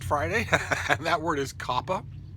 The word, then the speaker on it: COPPA: I know these are trying times, but double consonants calls for the preceding vowel to be short.